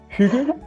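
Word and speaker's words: hygge: I think we pronounce it Hugh.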